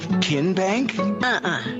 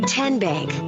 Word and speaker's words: TN Bank: back in three minutes how do you say the name tn bank no tin bank so what is it ten bank ten as in tennessee right here where all